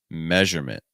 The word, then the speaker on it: measurement: That first syllable is a meh sound. Meh. This is your S sound like in best or get. Meh. Meh. So meh, measurement. Meh, measurement. Meh, measurement. Meh, measurement. Meh, measurement. How about our next word?